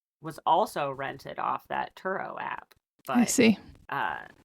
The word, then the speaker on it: Turo: an app called turo is that how you say it yeah I think it's turo yeah turo okay it's